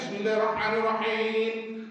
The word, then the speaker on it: Bismillahirrahmanirrahim: Dibacanya Bismillahirrahmanirrahim. Itu lahnya itu harus vertikal fathahnya. Beda bacanya Pak ya. Dan ma itu harus lurus juga tanda fathahnya. Beda bunyinya dengan yang miring.